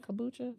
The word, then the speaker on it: kombucha: Is that how you say it? Kombucha? Yeah.